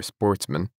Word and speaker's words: sportsmen: good family who were Sportsmen a French word pronounced with the accent on the men the the only trouble